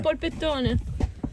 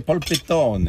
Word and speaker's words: polpettone: Ah, polpettone. C'est Pol- polpettone. Ah, polpettone. Polpettone. Qu'est-ce qu'il y a dedans? Est-ce qu'on prononce bien?